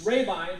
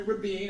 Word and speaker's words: Rabine: It's Rabine, long A, long I. Many places in the state of Illinois, they call me Rabine.